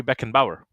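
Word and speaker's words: Beckenbauer: again beckan ball I think that's how you pronounce his last I learned it from uh my buddy uh fellow YouTuber s Harry Beck and Bower Harry Beck and bow okay there we go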